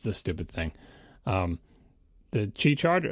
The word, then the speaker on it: Qi: The Qi charger, am I pronouncing it right? Qi? I believe that's right.